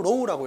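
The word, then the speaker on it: ρ: 콩나물 대가리 같이 생겼는데 그리스 문자로 로우라고 읽어요.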